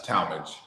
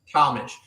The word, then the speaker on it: Talmage: It's Talmage. Talmage.